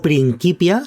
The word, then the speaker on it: Principia: libro sagrado del discordianismo el principia discordia o principia si lo queremos pronunciar bien en el latín Romano del siglo I antes de Cristo eh nos